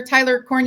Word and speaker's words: Tyler Cornu: excited today I have a CEO with me Tyler coru who is did I pronounce it right Tyler Tyler corne did I do that yeah you did awesome